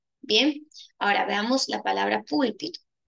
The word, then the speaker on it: púlpito: Púlpito, la mayor fuerza de voz. se presenta en la última penúltima, antepenúltima sílaba, ¿no? Entonces, al estar en la penúltima sílaba, nosotros decimos que esta es una palabra esdrúcula.